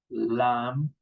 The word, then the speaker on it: lamb: Lamb. lame noun. Okay, we don't pronounce the letter B in these group of words.